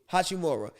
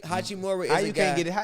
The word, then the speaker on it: Hachimura: up being ruri whatever no say his name hachimura i think hachimore can you get his last name right but